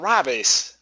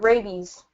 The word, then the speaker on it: rabies: did he do about rabbis rabbis how do you say that uh rabies rabies thank you yes so um